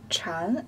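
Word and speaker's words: 蚕: China is pronounced as Chan which is similar to the pronunciation of Zen so this chopsticks tent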